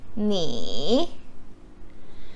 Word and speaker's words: 你: How do you pronounce this one? 你.